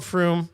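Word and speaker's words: Frome: No, it's called Froom. And thanks Brad for the heads up because I was able to pronounce it properly and I didn't get labeled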